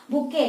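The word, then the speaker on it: bouquet: बुके, T silent है, बुके stage नहीं बोलोगे, बुके स्टेज।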